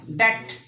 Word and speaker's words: debt: डेट, ऋण होता है ना, कर्ज होता है, तो DEBT, डेब्ट नहीं, डेट।